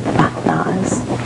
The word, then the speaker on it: Mahaz: gave you this name mahaz actually is how it's pronounced mahaz it means beauty of the Moon you should be proud